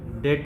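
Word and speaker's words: debt: डेट में डेट होता बहुत लोग डेप्ट बोलते हैं लेकिन डेट सही होता है बी साइलेंट होता है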